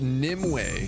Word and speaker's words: Nimue: Her name is pronounced Nimue from Arthurian legends.